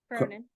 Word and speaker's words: Cronin: And toward that end, it's my pleasure to introduce Carolyn, is it pronunciation Cronin. last name? Cronin. Cronin, thank you.